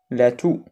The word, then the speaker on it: toux: الحمى la grippe الإنفلونزا la toux السعال إكس ما كنطقوش la toux le vomissement